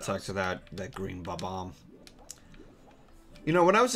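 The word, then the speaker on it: Bob-omb: to that that green ba-bomb you know when i was a kid whenever it came to the term ba-bomb i used to just call it bomb-a-bomb i did the same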